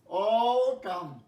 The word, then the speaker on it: autumn: দেখো AUTUMN, এনটা উজ্জ থাকে বলে অটাম, অটাম, অটাম।